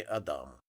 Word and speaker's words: Адам: Я вышел на просторы интернета и начал бегло читать всё, что касалось компании Адам. Ударение, как оказалось, нужно делать на вторую букву А, а не, как сказала девушка, по телефону.